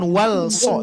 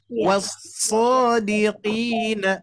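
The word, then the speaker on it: وَالصَّادِقِينَ: Cara bacanya idgham langsung Bapak Ibu sekalian. Jadi bukan wal-so tapi was-shadiqina. Ulangi. Was-shadiqina.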